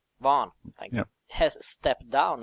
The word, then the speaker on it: Vaughan: So what I think was the most interesting news is that Brian Vaughan, is that how you pronounce his name? Vaughan, thank you.